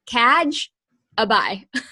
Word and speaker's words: Kajabi: planner dot Co slash kajabi and know who knows how to spell that so it is kaj ABI so like catch I buy that out I mean